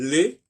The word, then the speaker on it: les: Par exemple, je sais pas, quand je dis par exemple les, L-E-S, je ne prononce pas le S.